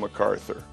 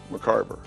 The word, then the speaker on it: McCarver: my Darren good friend Tim McArthur and I said McCarver he said well what